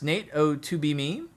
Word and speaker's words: Nate O2B Me: My name is pronounced Nate O2B Me. By the way, I'm going to try to remember that the 2 is silent.